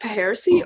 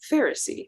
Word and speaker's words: Pharisee: So is it pronounced Paheresy or Pharisee? Pharisees!